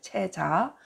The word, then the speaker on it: 체자: 그러니 "cheza" 라고 읽어야 합니다 . "cheje" 라고 읽으면 안 됩니다 . 체자 .